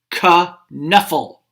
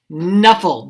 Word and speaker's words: Knuffle: saying trixie is saying ka knuffle knuffle bunny and and sanja is saying knuffle the k is silent like a knife or knight but she said ka